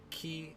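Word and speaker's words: き: Ka, ki, ku, ke, and ko.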